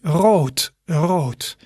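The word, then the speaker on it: rood: is road road so although you see a d there it's pronounced as a t wrote so that's the color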